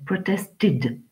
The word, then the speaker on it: protested: de la finale était alors ed se prononcent id ça nous fait protested protested protested gueule avec